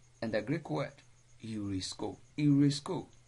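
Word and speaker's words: εὑρίσκω: Eurisko begins with epsilon, upsilon. Epsilon, upsilon are not separate vowels, but they are to be pronounced together. And so they are regarded as an example of diphthong.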